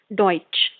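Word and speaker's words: Deutsch: अगर कोई भी sentence T एस सी एच है तो हम उसको च बोलेंगे च की तरह साउंड करेगा व जैसे एग्जांपल फॉर एग्जांपल डॉच और डच लाट ओके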